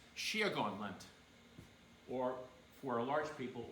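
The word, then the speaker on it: Síocháin leat: And he taught us that, and it's pronounced Shiagon Lent, or for a large people, or for one person, Shiagon Lieve.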